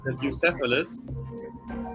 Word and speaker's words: Bucephalus: I guess there's an English pronunciation as well. It's Bucephalus, but he's just called Buki for short.